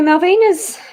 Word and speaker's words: Malvina: So Malvina's asked if there's anything for her.